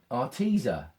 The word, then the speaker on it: Arteza: it, I can always thin it down from Arteza, that's how you pronounce it.